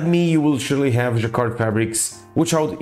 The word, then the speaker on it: jacquard: a video explaining what jakar Fabrics are and how they are manufactured like me you will surely have jakar Fabrics which out it's jaka not jaer French people are very